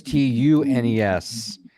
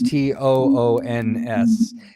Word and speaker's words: Toons: Sometimes people when you Siri it, because Apple owns Siri, it comes up as TUNES. And it's not. It's TOONS.